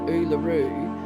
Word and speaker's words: Uluru: So when we look at Uluru, you can see Uluru is spelled with the letter U all the way through. Uluru, right? It's got a U.